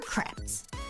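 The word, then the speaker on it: crêpes: Like to be creeps or crepes. Is it creeps or creps? Creps. Creps. Creps. Is it a short e or a long e sound? Uh, creps are creps.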